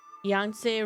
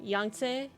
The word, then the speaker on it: Yangtze: But we are playing Murders on the Yangtze River. I think that's how Google said to pronounce it. Yangtze.